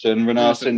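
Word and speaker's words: Rúnarsson: Yeah, Renarsson.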